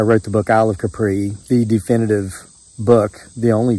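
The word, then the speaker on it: Kapre: Capri in the Philippines to say it properly I've got hell about this from people in the Philippines for mispronouncing that's Capri hey man I can't roll my tongue um so and you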